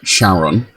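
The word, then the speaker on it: Charon: I want to say Karen, as in the ferryman for the underworld, although she pronounced it Sharon.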